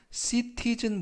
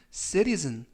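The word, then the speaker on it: citizen: 이라는 뜻을 가지고 있습니다 이때 발음에 유의 하실 것은 t 발음이 틀 보다는 부드럽게 를 어른을 그래서 씨티즌 보다는 세리스는 이라고 바람 하시면 좋겠습니다 활용 문장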